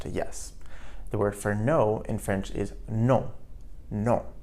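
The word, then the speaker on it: non: So we say no in English but no in French. So hear that faint N sound no at the end of the word.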